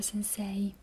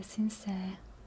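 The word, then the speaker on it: 先生: ossia sense sense sense per la pronuncia non è proprio Sensei a noi è Sensei in giapponese è come se lei si allungasse quindi è sensee S significa Maestro o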